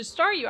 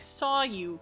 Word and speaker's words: Staryu: But back when I was a kid and stares Staryu, I could never pronounce its name right. I always ended up saying sounding like saw you.